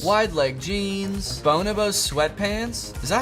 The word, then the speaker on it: Bonobos: life clothing brands like Bonobos. Widelegg jeans. Bonobos sweatpants. Is that how you pronounce it? I looked it up afterwards and it is not Bonobos.